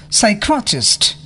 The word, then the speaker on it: psychiatrist: P is not pronounced at the beginning of many words using the suffix PSYCH and PNEU. psychiatrist, Pneumonia.